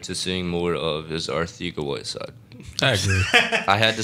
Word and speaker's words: Arcega: I'm looking forward to seeing more of is our theca Whiteside I had to say our theca because apparently that's how you pronounce yeah and that's but he doesn't care if you say Arcega he understands it looks like Arcega and that